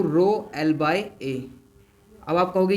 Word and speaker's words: rho: इसको हम रो बोल देते हैं, ऐसे RHO, ऐसे प्रोनाउंसिएशन ऐसे आती है, रो को बोलते हैं बेटा रेजिस्टिविटी।